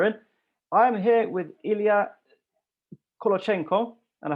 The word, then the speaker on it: Ilia: i am here with ilya and i hope i pronounced your your name right is that correct elia yeah it is correct fantastic so ilia is